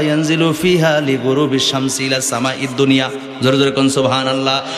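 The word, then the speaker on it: صوم: সুমু নাহার, সোম, সোম আমরা বাংলা বলি সাওম, বলি না? সাওম মানে কি? রোজা। আসলে সঠিক উচ্চারণ হচ্ছে সোম।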